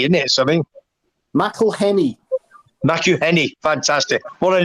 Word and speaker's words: McElhenney: How do you pronounce it? Is it like it's like Menenemy, isn't it? Something. McElhenney.